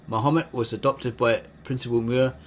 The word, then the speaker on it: Mahomet: The objection to this is that we now place the accent of the first syllable of the name Mahomet instead of the second, thus giving it an entirely wrong sound.